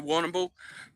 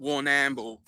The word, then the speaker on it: Warrnambool: Obviously, I don't know if people know Warrnambool, but you know, the Indigenous would pronounce it Warrnambool. But you know, not this fucking white man Warrnambool.